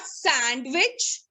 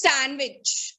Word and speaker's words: sandwich: It's not sandwich, it's sandwich. Okay, you have to silent the D and in the word.